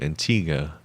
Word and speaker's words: Antigua: I was on a hitchhiking adventure from BC, Canada to Antigua, Guatemala, which started in September of 2019.